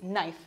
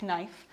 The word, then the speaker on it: knife: Remember here, we don't pronounce the K, it's knife, not knife.